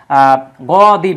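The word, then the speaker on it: غَضَبَ: আরবিতে এই জায়গায় তিন বর্ণবিশিষ্ট মূল হরফ হবে গ দ বা গদবা মানে রাগ করা রাগ করা বা রাগান্বিত হওয়া বা গজব দেওয়া যেটা আমরা বলি গজব দেওয়া হ্যাঁ এই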